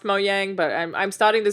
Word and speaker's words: Mojang: I believe it's pronounced Mojang, but I'm starting to say CD Projekt Red as well.